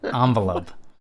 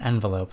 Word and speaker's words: envelope: cranberries it's it's it's a envelope or an envelope however you want to pronounce it envelop um yeah well